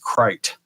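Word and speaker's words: krait: And the Crate is actually a very famous snake in India. Big deal. I think it's actually supposed to be pronounced Krite.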